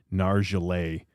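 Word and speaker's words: Nargeolet: Nargelet. That's how you pronounce it.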